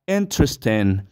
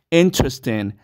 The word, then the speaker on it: interesting: sino que únicamente dos algo similar cede con la palabra interesting interesting no se dicen cuatro sílabas no se dice interesting verdad no se dice así sino que vamos a decir interesting como si fueran únicamente tres sílabas don't forget it No